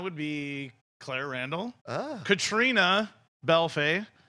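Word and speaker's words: Caitríona Balfe: Katrina Belfay. That's how you say her name. It's not Catrione, which is really disappointing.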